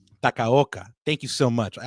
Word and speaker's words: Takaoka: I always say his last name wrong. Takaoka.